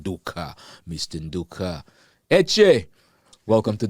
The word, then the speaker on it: Nduka: Let's hear the correct and the right pronunciation. Yes, Nduka. Wow. Nduka.